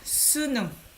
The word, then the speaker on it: 수능: test this is called sunum you look at this syllable so you look at this syllable korean people commonly call this test as a sunu we don't say the full name we simply just say